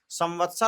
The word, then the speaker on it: संवत्सर: संवत्सर और संवत दोनों अलग होता है, इस बात को ध्यान रखिएगा। बहुत से लोग इसी का उच्चारण करने लगते हैं, अमुक नामनी संवते, संवत नहीं होता है।